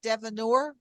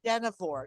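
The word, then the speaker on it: Dynevor: The leading actress is Phoebe Devanore. How do you pronounce that? I think it's Denivore. Denivore.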